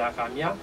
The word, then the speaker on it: Hakamiah: le génie, le 18e, 16e génie qui c'est Akamia et chérubin qui rapport avec vous et s'il